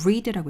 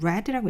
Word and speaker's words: read: 발음 어떻게 하죠 발음이에요 요건 좀 주의하셔야 돼요 스펠링은 똑같은데요 동사 원형은 read고 읽고요 과거형은 read고 읽습니다 읽었다 이렇게 현재형과 과거형이 똑같은게